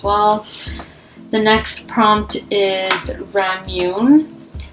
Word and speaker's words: ramune: the next prompt is ramune um is how it's pronounced i think anyways it's if you